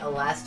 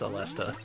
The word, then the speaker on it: Aleste: Yeah, and JP Ronnie, I've been calling it Aleste for like as long as I've known Danny, and I only recently now know that it's Jesus pronounced. God, I suck. Let's try that again. Okay. Yeah, it's something that I always forget and have to look up again, but yeah, it is Alesta.